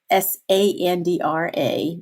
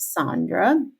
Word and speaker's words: Sandra: tell you a story my name is spelled s a n d r a it's pronounced Sandra and one of my teachers told me my